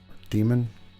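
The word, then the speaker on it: daemon: proxy service all right damon reload demon depending on how you like to pronounce it okay enable no fails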